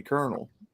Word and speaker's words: colonel: an honorary Kentucky Colonel that's how he became known as the colonel colon him then why is it spelled colonal that's how you spell it that's how you spell colonel you're you're thinking of a corn kernel yeah why don't you